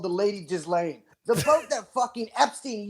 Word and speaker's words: Ghislaine: I cannot pronounce it. Ghislaine. It's Ghislaine, but it sounds better to say Ghislaine.